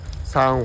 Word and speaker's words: 三本: 兩棵，在日語中讀作 nihon。這就是日語裡比較難的地方。我們不會把「三本」唸作 sanpon。 3本：唸作 sanbon 或 sanhon 4本：唸作 yonhon 5本：唸作 gohon 6本：唸作 rokubon 或 roppon 只有「1」稍微特別一點喔。